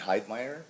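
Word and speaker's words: Heidmeyer: and Hyde Meer.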